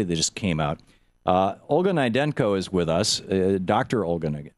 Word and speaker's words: Naidenko: And am I pronouncing your name correctly, Dr. Naidenko?